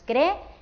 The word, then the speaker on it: creer: Como son dos vocales fuertes, forman un hiato, así que se tienen que decir, que pronunciar en dos sílabas diferentes. Diríamos creer.